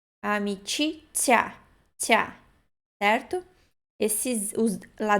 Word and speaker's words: amicizia: Amicizia. Esse Z, I tem um T, né? Ti. Amicizia.